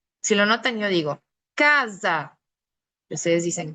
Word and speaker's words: casa: Para nosotros, cuando la S está en medio de dos vocales, déjenme que se los marco, aquí está. El sonido de la S es un sonido muy parecido a la Z, por eso yo lo